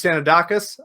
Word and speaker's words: Sanoudakis: things first for people who don't know luis sanodakis i did i pronounced that correctly perfect look better than most